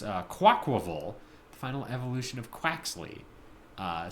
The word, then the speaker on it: Quaquaval: quaa is that you the middle part is pronounced like Aqua so quav is how